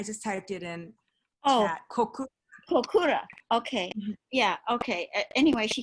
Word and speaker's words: Kokura: city that I don't know the name of, Nakuda. That was Nakuda. How do you say that? I just put it in. I just typed it in chat. Kokura.